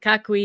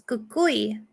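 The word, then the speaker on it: Cucuy: with the chupacabra, but Kakui is not one I am familiar with. Yeah, it's kukui. Like Kukui. Cui, or people spell it differently, but kukui.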